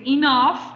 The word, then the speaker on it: enough: Nos vamos con el segundo repaso del día de hoy, que es enough. Recordemos pronunciación, esa GH suena como una F.